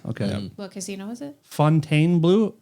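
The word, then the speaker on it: Fontainebleau: Fontaine Blue. I thought it was Fountain Blue until 4 days ago. I think you have to say it like uh you're sniffing rancid French cheese.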